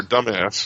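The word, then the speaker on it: Dumas: yeah she did yeah I'm disappointed you didn't pronounce it the correct way dumb ass Alexander dumb ass exactly Shawshank Redemption exactly I was ended up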